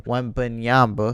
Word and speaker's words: Wembanyama: Victor Wembanyama. I don't even know. I butchered his last name. Wembanyama.